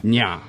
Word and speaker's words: Nya: This advisor to Fri, wife of Odin, called herself Nya, like the last syllable of lasagna.